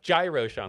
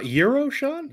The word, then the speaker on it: Gyrosean: And if you also wanted to know how to pronounce my name, Gyrosean, like gyroscope. But yeah, Twitch and YouTube, that's where it's at. That's it. It's not Euroshan? No, it's not like the food.